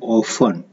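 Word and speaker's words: orphan: ऑफन, इसका उच्चारण है ऑफन, इसमें आर साइलेंट होता है, आर का उच्चारण नहीं करते हैं, हिंदी है अनाथ.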